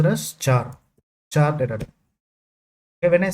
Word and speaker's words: char: Character a char a equal to usually it is pronounced as char. Okay. Some some some of few people will pronounce it like car. It is pronounced as char data.